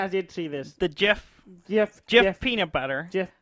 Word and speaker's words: GIF: that says gift yeah gif it's Jeff and Jeff Jeff how do you say it Jeff it's not yeah it is just it's not it's just are you do you really say Jill I do say I've always said gift you're wrong it's gift